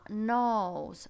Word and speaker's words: knows: Забежим вперед и скажем, что KN не произносится K.